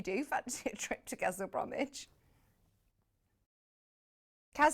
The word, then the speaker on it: Castle Bromwich: Lovely garden centre there, though, if you do fancy a trip to Castle Bromwich.